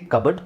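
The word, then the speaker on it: cupboard: sound ಬರುತ್ತೆ ಇಲ್ಲಿ abroad ಇಲ್ಲಿ ಕಬಡ್ ಇದು ವಿಚಿತ್ರವಾಗಿದೆ ಕ ಬಡ್ ಅ ಸೌಂಡ್ ಬರುತ್ತೆ ಗೋವ ಬುವ ಆಲ್ಮೋಸ್ಟ್ ನಿಮಗೆ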